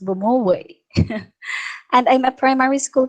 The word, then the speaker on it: Bomowi: myself i am bomoy i am also a filipino and yes my surname is pronounced bomoway and i'm a primary